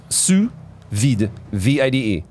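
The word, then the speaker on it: sous vide: Su thing am I saying it right yeah Su v v it's I thought I thought that was your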